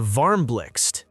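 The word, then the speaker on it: Varmblixt: The Varmlix, yes, that's how you pronounce it, is IKEA's donut-shaped lamp designed in collaboration with Dutch designer Sbine Marcelis.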